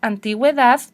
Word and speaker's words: antigüedad: Que sí tengo que pronunciar la U. No son muchas palabras en español, pero hay algunas. Pronunciamos paragüero, antigüedad, pingüino. Los dos puntitos para asegurarnos que sí lo estamos pronunciando. La G o la J.